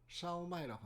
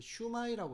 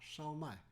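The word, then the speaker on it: 烧卖: 요런 거를 뭐라고 한다 샤오마이라고 합니다 한국에서는이 발음을 제대로 표기를 못해서 어떤 한국에서 이런 걸 파는 데가 간혹 있긴 합니다 좀 고급 중식당이라든가 딤섬을 파는 데가 있는데 이거를 슈마이라고 적어놨더라고요 슈마에 정확한 발음은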